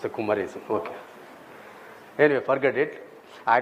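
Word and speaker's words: Kumaresan: And my name is not Kumarasan. Yeah. The moment you say K U M E R, then your natural instinct is to prove Yeah, pronounce it as Kumar. Then you have to end it with the E S A N then you say Kumarasan.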